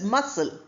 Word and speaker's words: muscle: Again you have muscle. But that's not how it's pronounced. It's pronounced as muscle.